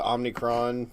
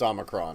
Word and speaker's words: omicron: the omni corp variant the omnicron variant the look i know it's pronounced omicron okay but but just like